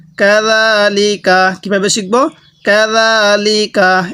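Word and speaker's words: كذلك: কাযালিকা, এটা জিম না, এটা জাল, জালটা উচ্চারণের সময় একটু নরম করে উচ্চারণ করব।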